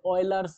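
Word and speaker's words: Euler: নামে পরিচিত, বলছে অ্যাজ অয়লার্স নাম্বারস। আবার বলছি এটা হচ্ছে অয়লার্স নাম্বারস বলা হয়, যদি বাংলায় উচ্চারণ করতে চাও সেটা কিন্তু অয়লার্স নাম্বার দাও, নট একটাই তো। আচ্ছা এটাকে আমরা বলবো অয়লার, অয় লার।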